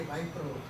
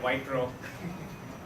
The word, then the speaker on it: Wipro: They say Wipro. So that's the typical American pronunciation that is there, Wipro.